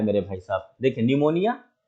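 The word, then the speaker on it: pneumonia: चलिए लिखा है मेरे भाई साहब निमोनिया लिखा है, ये पी आपने कहीं ये पी है, ये पी साइलेंट हो जाता है।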